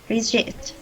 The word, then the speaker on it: resist: It means resist. And the syllable restrict or say is the second syllable. Resist. We'll pronounce resist.